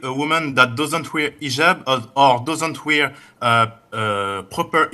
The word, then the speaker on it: hijab: And I know in France they don't pronounce the H when it is in the beginning of the word as in hotel or but this is an Arabic word.